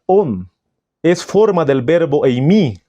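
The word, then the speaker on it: ὤν: Esa palabra se pronuncia on.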